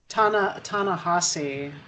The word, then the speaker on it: Ta-Nehisi: I don't think that's how you say his name. No, it's ta-nehisi. Ta-nehisi Coates.